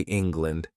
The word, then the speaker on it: England: You know we say land, but we don't say England. This language which we are learning, our language. 200 years they ruled us. The pronunciation is England, not land, but lend. Did you understand? Air becomes a sound because the stress is elsewhere.